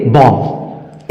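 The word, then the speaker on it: bomb: बी बॉम लेकिन नहीं हम अगर नियम को जान जाए तो बी ओ एम बी को हम क्या बोलेंगे बॉम इसमें बी क्या है साइलेंट क्यों साइलेंट है क्योंकि एम के बाद आया उसी तरह से सीओम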